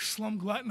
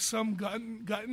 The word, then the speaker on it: Slum Glutton: Some people always call it Slum Glutton. They can't get it, but I noticed if you read it when it's spelt, you get it. If you just say it, some people like can't really get it. Slum Glutton, and I'm like Slum Glutton because it's like the two L's.